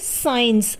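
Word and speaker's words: science: जिम साइलेंट रहता है जैसे साइंस अब साइंस में सी ए रहा है लेकिन यहां पर सी क्या है साइलेंट है यानी की यहां पर सी नहीं बोला जा रहा है उसी तरीके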